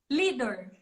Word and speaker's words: Lidor: É Lidor ou Lidor? Lidor. Lidor, então Não tá tem bom. um acento, não tem um acento, mas a pronúncia é Lidor.